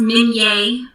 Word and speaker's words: Minier: It's pronounced Minier, right? In case the spelling threw you off.